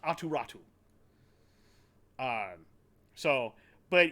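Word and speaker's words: Aatu Räty: first round pick uh for Anthony bavouillier and aturatu which is not spelled like you think it is it is spelled a t y uh I believe it's a-u-t-y uh r-a-t-y and it's pronounced aturatu um so but it's basically a pick a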